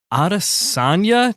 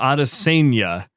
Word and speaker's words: Adesanya: Today, we have Adesanya. Nope, said it wrong. Adesanya. Nope, you had it right the first time.